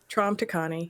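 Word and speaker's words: Traum Tikaani: to know a person I think everybody Welcome Trum to Connie how are you you know what I'm realizing I've only heard your name said by ABA box am I saying it correctly yes TR tra to con yes welcome excited to get to know you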